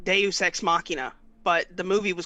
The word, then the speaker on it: deus ex machina: what was that movie deus machina well the proper pronunciation is like deus ex machina but the movie was